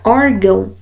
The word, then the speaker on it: órgão: vai me dizer que esse a ele deve ser pronunciado com som nasal no órgão é esse som nasal mas a sílaba tônica é a primeira aqui né no caso a